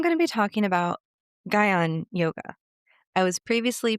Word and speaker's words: Jnana: Today I'm going to be talking about Gyana yoga. I was previously pronouncing it wrong as jhana.